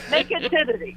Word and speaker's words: Nakedity: There's T's in there. There's T's, not D's. Nakedity.